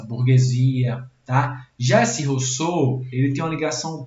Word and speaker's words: Rousseau: Que esse carinha aqui, pessoal, esse último aqui, ó, Rousseau, se escreve Rousseau, mas se fala Rousseau. Rousseau. É francês, tá?